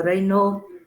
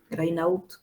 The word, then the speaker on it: Raynaud: Esta es la enfermedad donde más van a encontrar el fenómeno Raynaud, ya, Raynaud, no se escribe, Raynaud se lee.